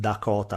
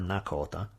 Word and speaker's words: Lakota: themselves, in this case Lakota, which also, depending on the dialect, you could hear it pronounced Dakota or Nakota.